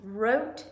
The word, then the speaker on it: wrote: have the silent g8 you have wrote and wrong have the silent W you have napped and